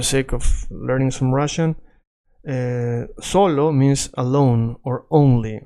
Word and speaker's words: solo: If you're confused again, just for the sake of learning some Russian, solo means alone or only, right? Only or alone. Now, solo has the accent in so, right?